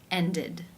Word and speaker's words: ended: air as its it and the D sound ended how do you pronounce this word the final sound of the